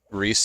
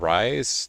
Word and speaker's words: Rise: me off to um it being pronounced Reese and not Rise is the fact that it's a noun.